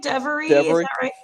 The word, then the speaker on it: Devoree: you say your name devoree just like the word every just slapped that d and that's every okay thank you scott